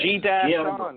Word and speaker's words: Gian: G-Dash-on.